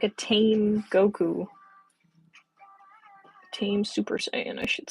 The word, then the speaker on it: Super Saiyan: Macy's Thanksgiving Day Parade they pronounce uh Super Saiyan wrong for those uh who watch the Macy's Thanksgiving Day prid who might know what I'm talking about it's to me just really funny they pronounce it wrong like every year she calls it like super cyan like the color and it's so funny